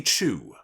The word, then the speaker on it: Choo: new name will be wendy chu as in uh c-h-o-o that's how it's spelled like choo-choo train i told you this